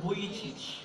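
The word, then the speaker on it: Vujicic: So siya si Nick Vic. Nick Vic. So that's how you pronounce his name.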